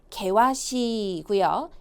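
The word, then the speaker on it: 険しい: 아이, 발음은요. 개와시, 개와시고요.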